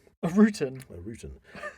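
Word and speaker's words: Ruten: The bundle is actually a traditional symbol of Alpine pagan origin, known as a rutan. A rutan? A rutan. Spelled R-U-T-E-N. Or rutan. Rutan, okay. Rutan. I'll pronounce it rutan.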